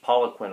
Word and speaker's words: Poliquin: It's got a Republican congressman now who was just elected in 2014, so he's a freshman, and he is Bruce Poliquin, I believe is how they pronounce his last name, but he is trying to fight for a re-election in that race.